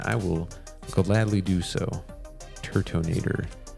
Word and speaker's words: Turtonator: Turtonator. I think the first time I pulled that card, I pronounced it Turdinator.